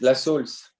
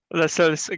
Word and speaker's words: Lasaulce: What is the right pronunciation? Samson? Yes, Lasaulce. Lasaulce, great.